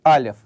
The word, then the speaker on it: алеф: Точно так же, кстати, и как "алеф" - самый первый согласный в еврейском алфавите - тоже у нас не произносится.